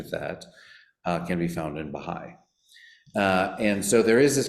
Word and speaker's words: Bahá'í: But it's pronounced, and we pronounce it in English, Baha'i, and then faith.